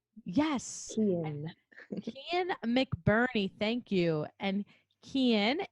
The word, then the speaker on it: Kian: It's like Ian with a K. Yes. Ian. Kian McBurney, thank you.